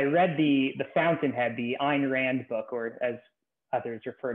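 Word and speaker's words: Ayn Rand: school i i read the the fountainhead the ein rand book or as others referred to her and rant but properly pronounced ein rand um and i kind of fell in love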